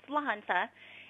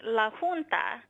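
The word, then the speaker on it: La Junta: proper way to pronounce Lanza is actually Lanza but we'll settle for it Lanza I mean it just means the junction in Spanish there's a little bit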